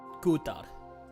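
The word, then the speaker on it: Kuutar: I love how that's properly pronounced with, like, the Nordic pronunciation. Kutar.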